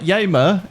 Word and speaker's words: Yamer: So, I was told that Yamer is the right way to say it. So, my anxiety decided to go, you know what, you did it wrong. And it was correct.